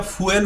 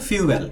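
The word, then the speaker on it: fuel: তাহলে এই শব্দটা ফুয়েল উচ্চারণ করবেন না আপনারা, বলবেন উচ্চারণটা হলো ফিউয়েল।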